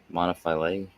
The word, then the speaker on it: monophyly: Monophyly.